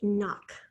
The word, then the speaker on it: knock: the next one is knock i'll knock on the door when i arrive now at the beginning you have the sound but what do you have in front of it the silent k right and then the